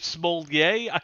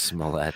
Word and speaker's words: Smollett: Is it Smollier? Wally's mispronounced it so many times I don't know how to say it. It's just Smollett.